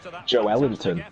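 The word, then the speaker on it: Joelinton: You like Joel Linton, Miles? Oh, apparently the way to pronounce according to the Brazilian guy that I read on Twitter is Joe Ellington.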